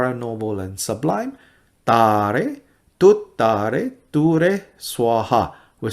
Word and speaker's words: Tare Tuttare: But when you string them all together, it's not Tara Tuttara. It's Tare Tuttare.